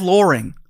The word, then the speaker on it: Loring: And Or is it Dave Loring? Loring. What did I say? Loring? Loring. Oh, sorry, Dave. Just because it rhymes with boring, and that's his little his explanation.